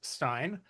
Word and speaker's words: Stein: Stein.